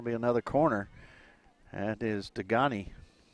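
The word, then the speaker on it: Degagne: That is Degani. Spelled D-E-G-A-G-N-E. Natalie Degani. I was trying to convince Coach to pronounce it Degani, but wouldn't go for it.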